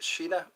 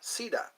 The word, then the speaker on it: Sina: Is that how to say it? Sheena or Sina? Sina.